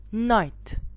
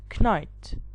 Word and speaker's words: knight: This is called night, not knight.